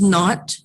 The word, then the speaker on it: naught: word that i just said is not it's pronounced not and it is the word that represents this